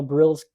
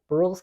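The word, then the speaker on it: Brühl: there's this other kind of story with Danielle brill's Brule's character I need to say his name Brule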